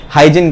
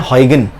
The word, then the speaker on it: Huygens: India, Pakistan, Bangladesh में हाइजिन कहते हैं, क्रिस्टन हाइजिन, जबकि एक्चुअल प्रोनाउंसिएशन है हॉयगन। क्या प्रोनाउंसिएशन है? डच फिजिसिस्ट है वो, क्या है? हॉयगन, क्रिस्टन हॉयगन।